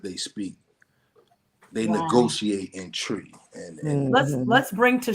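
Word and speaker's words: Twi: it's it's pronounced it's spelled t-w-i but it's pronounced tree so that's the the language that they speak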